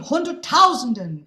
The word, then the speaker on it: hunderttausenden: And the accented syllable is not in the place we expect, and then an unaccented syllable is in a place we don't expect.